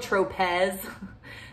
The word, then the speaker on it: Tropez: Tropez better you can buy it at Ulta it's spelled TRO Pez but it's pronounced Tropez and I get the